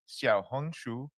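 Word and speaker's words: 小红书: Xiaohongshu.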